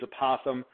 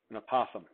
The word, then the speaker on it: apothem: I use apothem because I think it sounds like opossum, but with a lisp, an apothem.